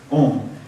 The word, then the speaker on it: Om: And so we see it as one syllable, so we think it is that's a word, Om.